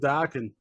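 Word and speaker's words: Dokken: Rhymes with rockin'. Dockin? No Dockin. Yeah. Jeff Pilson was he was the bass player with Dockin.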